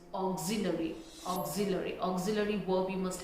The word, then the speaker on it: auxiliary: It's auxiliary, auxiliary. It's not auxiliary, it's auxiliary, auxiliary. Auxiliary verb you must have heard, right? So it's auxiliary.